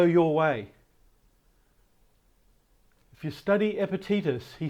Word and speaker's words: Epictetus: Epictetus is how it's pronounced in English. I don't know the Latin.